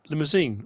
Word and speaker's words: Limousin: Angus and we've got Limousin. I say Limousin, Limousin. Depends where in the world you're from and how you pronounce it.